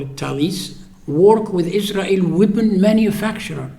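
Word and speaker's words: Thales: electrical engineering department uh thalis okay all it's in France in in English th but they pronounce in French it's it's a French company and they call it Talis work with Israel weapon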